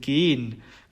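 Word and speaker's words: gehen: 그런데 동사로서 쓰인 긴 같은 경우에서는 묵음 처리가 됩니다.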